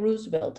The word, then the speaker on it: Roosevelt: On September 30, 2021, the 73-year-old Cine Roosevelt, and I use the Puerto Rican pronunciation for Roosevelt, located in the Eleanor